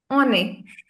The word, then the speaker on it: on est: On est. On. on est. on est. on est. Now this one, we're not pronouncing it as on. Why? Why are we pronouncing the N in this case?